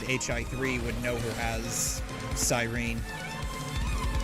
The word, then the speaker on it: Cyrene: Or as people that play HSR and have never played HI3 would know her as Cyrene. Or, excuse me, Cyrene. It's a weird way to pronounce that name.